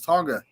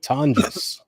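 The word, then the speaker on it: Tonges: I thought it was Tonga. Jake Tongus. That's what they say it's pronounced.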